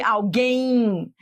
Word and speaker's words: alguém: um ditongo alguém alguém quando você pronuncia realmente faz sentido esse m é como se fosse um I alguém e aí seria um